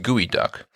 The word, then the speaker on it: geoduck: It's spelled geoduck. It's pronounced Gooey Duck, and it's a clam.